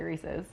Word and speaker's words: Reese's: classic candy option so we are making homemade reesei cups how do you say Reese I say reesei but most people say Reese's Reese's Reese's yeah agreed Reese's Peanut Butter Cups